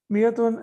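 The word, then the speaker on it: مائة: Miyatun and alfun are always used as mudaf. Okay. And we can see here that miyatun has an extra alif here. It's an added alif, but it is not pronounced.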